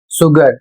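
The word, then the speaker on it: sugar: तो यह सभी अपवाद आप याद कर लें जिससे आपको उच्चारण में समस्या ना हो। जैसे यहां पर लिखा है एस यू जी ए आर शुगर जिसका अर्थ होता है चीनी।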